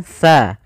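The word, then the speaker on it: ث: pelafalannya kemudian yang selanjutnya hati-hati di dalam bacaan tsa di sini jangan dibaca dengan huruf Sin jangan pakai S kesalahan yang sering muncul adalah Misalnya mengganti TS dengan sa Kal misalnya alkautar Kal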